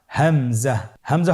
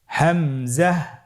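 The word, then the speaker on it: همزة: হামজা পরবর্তী হরফটির নাম হামজা হামজা হরফটি উচ্চারণের ক্ষেত্রেও বারিক করে উচ্চারণ করতে হবে এবং এখানে টেনে পড়া যাবে না দ্রুত পড়তে হবে আপনারা আমার সাথে বলুন হামজা জাহ হামজাহ হামজা হরফটি উচ্চারণের স্থান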